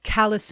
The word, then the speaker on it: Calais: But I was from Calais, Maine. Spelled like Calais, France, said like the rough patches on all the mill workers' hands.